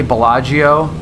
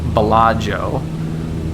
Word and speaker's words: Bellagio: It's usually the preceding vowel, the preceding I after a consonant, either G or C, is not pronounced. So even though you'd probably say Bellagio, it's actually pronounced Bellagio.